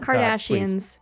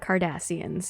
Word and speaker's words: Cardassians: and that's the kardashians uh did i say it right not kardashians but kardashians yes in a bts video